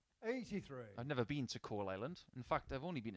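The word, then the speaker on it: Coalisland: northern irish young start i do believe you pronounce his hometown as coal island 100 it sounds almost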